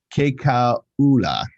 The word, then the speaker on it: Kekaula: I think the trick to pronouncing Polynesian names is you pronounce every vowel. Muyakalea Momo. Muyakalea Momo. Yeah, something like that. It's Kekaula.